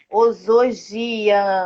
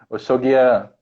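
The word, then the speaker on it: Oxaguiã: Osogia, eu não sei, me ajuda aí. É meu santo, meu santo. Como é que pronuncia? Oxoguian. Oxô, então o S fica com som de X, né?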